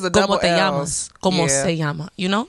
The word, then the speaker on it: llama: So that's why people, when they read Spanish, they be like llama. It's llama. Oh, really? Yes. Oh, yeah, you're right, because of double L's. Como se llama, like that.